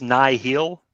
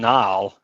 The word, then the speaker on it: Nihil: And so it's pronounced Nihil. Nihil, yeah. Okay. I've been calling them Nile, like just because it feels like it rolls off the. It just they say Nihil in the book.